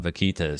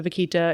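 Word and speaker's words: vaquita: I hit the record button here is about Vitas so so why don't we jump in you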